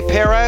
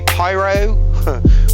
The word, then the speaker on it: Pierrot: I say Pierrot, a lot of people say Pyro, Pyrot, however you want to spell it.